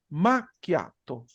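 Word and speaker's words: macchiato: ajá ajá fíjense acá la pronunciación de esta palabra y de todas las palabras que van con doble c es una cosa como esta no escriban jamás esto así pero es solo para que ustedes tengan la noción hacen una pausa más quiato maquiato Sí entonces para que lo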